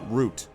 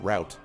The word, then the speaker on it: route: of Bram's door crack I always pronounced it root a big boss although I know some people who pronounced it route but I always a